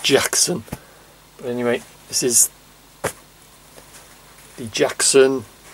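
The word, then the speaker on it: Jaxon: with that one and it is Jackson with it see that J a XO n I presume it's pronounced Jackson anyway this is the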